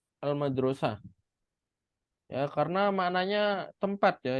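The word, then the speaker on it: المدرسة: Al madrasah ini kalau nggak ada harokat, antum bisa saja membacanya mudarrisah. Iya kan, kalau tidak ada harokat. Tapi antum harus ngelihat secara makna ya. Masa saya pergi ke guru perempuan, kan nggak cocok. Kalau yang namanya saya pergi harusnya ke tempat. Maka meskipun tidak ada harokat, cara bacanya harus al-madrosah.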